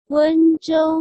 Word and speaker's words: Wenzhou: Wenzhou Migan.